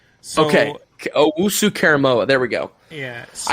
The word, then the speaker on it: Owusu-Koramoah: Yeah, so it's Jeremiah Owusu-Koramoah. So, okay, Owusu-Koramoah.